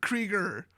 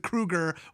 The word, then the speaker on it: Krieger: Because I know a lot of people with the last name of Krieger, and that's some funny shit. And also they pronounce it Kruger, which is completely incorrect.